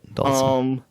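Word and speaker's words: Dhalsim: Dalsum. How do you pronounce that? Dalsum? And Vega. Dalsum. Okay. Yeah. All right. So I was right. That's the way I always heard it. Dalsum.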